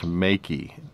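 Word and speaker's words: Meike: is this lens from i think it's pronounced makey m-e-i-k-e but it is a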